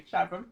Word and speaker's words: chasm: Every time you say it, you say chasm. Am I saying it wrong? Yeah, it's chasm.